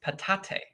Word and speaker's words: patate: The Yeah. Pawpaw French, it's patate. Right.